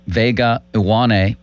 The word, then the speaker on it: Vega Ioane: Well, I finally learned how to pronounce the Penn State guard's name, Vega Ioane, and that's who I want them to take, and I want them to trade up and get him.